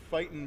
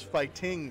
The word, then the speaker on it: Fighting: For round one, the action was fast and furious in the Fightin' Bees arena. I'm sorry, that is Fighting Bees. Got to make sure that G gets pronounced.